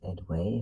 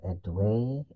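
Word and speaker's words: Édouard: It's a girl and a boy named well, it's spelled Edward, but I thought it was Edway. If it was Edward, then okay, but it sounds like Edway when I hear it in the show.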